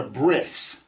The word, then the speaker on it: bris: they call it a bris and I've told you before that the there are certain sects of Jews who who pronounce the T sound at the end of a word as an S you'll hear it in